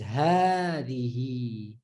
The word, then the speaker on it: هذه: Like when you write in Arabic today, when you write this word, you write it without the mads, but you still pronounce it as hadihi.